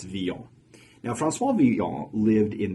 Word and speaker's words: Villon: His last name is spelled Villon, so to us English speakers, it looks like we should say it Villon, but it's Villon.